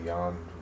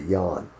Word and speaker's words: Jan: I want to say Jan, spelled with a J. Kind of like John, but Jan.